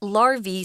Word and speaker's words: larva: Larvae is a pronunciation for the plural form. If it's the singular form, it's spelled L-A-R-V-A and it's larva. But here it's the plural, which is larvae. Kind of weird, I know, because it has an A-E at the end.